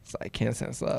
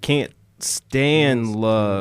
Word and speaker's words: KanStanceLove: But if you say it like right, it kind of sounds like Kansas love. It's like KanStanceLove. Oh, okay. Because I was pronouncing it like can't stand love.